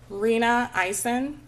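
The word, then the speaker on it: Rena Eisen: could you state your uh your name and spell it for the court reporter reena eisen r-e-n-a-i-s-e-n and dr eisen where are you employed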